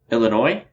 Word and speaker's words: Illinois: don't think we've announced this state yet Illinois's Illinois mm-hmm yes is silent they're not gonna like that Oh Illinois